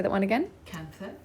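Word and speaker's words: kantha: we how do you say that one again cancer cancer k-n-t-h-a it's an indian method it's um this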